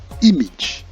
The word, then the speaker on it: image: this one very interesting this is correctly pronounced image image image and not image but image image now we take a